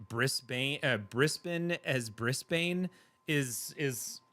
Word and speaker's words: Brisbane: Americans always say Bane. Yeah, Brisbane.